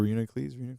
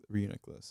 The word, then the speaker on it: Reuniclus: I think it's pronounced Reuniclus. I think.